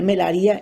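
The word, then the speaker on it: Mellaria: escribe con to hell' si nosotros lo pronunciamos en español tendríamos que decirme diaria pero hay que pronunciarlo como lo hacían los romanos es decir como se hace en latín que es pronunciar la ele dos veces así en que el nombre me daría en el área del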